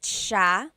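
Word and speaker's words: siya: actually pronounced Sha Sha so the s i y it's a sha sound sha and then another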